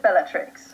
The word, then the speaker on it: Bellatrix: Well, I pronounce it Bellatrix. Okay, that's what I was going to go with. Yeah, it's Latin, so I'm not a Latin